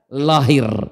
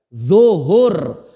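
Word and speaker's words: ظهر: Orang kita susah nulis baca d jadinya lahir ya namanya lo lahir zuhur sebenarnya zuhur. D l u h u r. Zuhur. Tapi orang kita susah nyebut zuhur jadinya tuh kan luhur kan.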